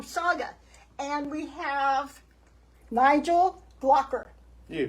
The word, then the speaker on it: Glockler: And we have Nigel Glockler. You pronounced it right.